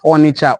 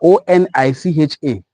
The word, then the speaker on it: Onicha: So Onitsha, Onitsha is Onitsha, Onicha. The same thing, just difference of spelling, the same pronunciation.